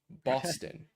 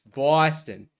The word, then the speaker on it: Boston: Um which that's how they pronounce it. Um it's not Boston, it's Boston.